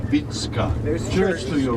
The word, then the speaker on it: Vicka: the visionary vitska vitska many americans will say vikka it's v-i-c-k-a that's how we you know spell it and pronouncing is vitska there's church to you